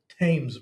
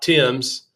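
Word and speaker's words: Thames: The Tames River. Tames. The Tames River in T H- S. Yeah. rhymes with what? James. James. Not Tims.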